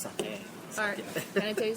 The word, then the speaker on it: sake: Yeah, it is pronounced sake, not saki. Yeah, just like any other Japanese words, if you pronounce the vowels just as in Spanish or Italian or Hawaiian, you're safe.